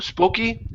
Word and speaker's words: spooky: the word spoo spooky instead of SPO spooky it's an ooh sound spooky spooky good A